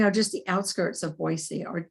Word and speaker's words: Boise: robin makes her home on the outskirts of boise see i know how to say it sharing